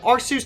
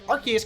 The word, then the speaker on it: Arceus: know it's gonna like i just recently switched that pronunciation from our suits to Arceus none now i'm trying to get myself to say our keys cuz that's what everybody else well pokemons calling it that for sure but we